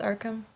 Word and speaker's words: Arkham: Seeking hard proof, Arthur goes to Arkham, is it pronounced Arkham?